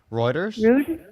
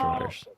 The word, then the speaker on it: Reuters: Reuters. Yeah. What? What's the title? Um, because I would accept Reuters.